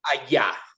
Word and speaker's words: allá: And that word aya, how do you pronounce that? Allá, that means over there.